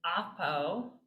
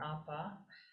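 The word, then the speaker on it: ἀπό: a try all right this is oppo oppo or oppa and it's the word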